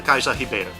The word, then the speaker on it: Cais da Ribeira: 1887 excuse me we're walking down the Kaiser Sahib Eider the Riverside key yes apparently that is how you pronounce that this was portals main harbor area